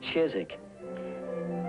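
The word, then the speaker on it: Chiswick: BUT THEY STILL CALL IT CHIZZICK.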